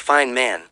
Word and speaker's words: Feynman: His name was Richard Feynman, pronounced Fine Man.